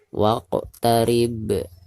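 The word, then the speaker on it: واقترب: Baik, perhatikan di ujung ayat ini ada huruf ba dan huruf ba ini adalah merupakan salah satu huruf qalqalah ya. Dan dihukumi qalqalah kubro karena posisinya ada di ujung ayat atau di ujung bacaan ya. Jadi cara membacanya harus dipantulkan dengan suara pantulan yang tebal. Waqtarib, seperti itu.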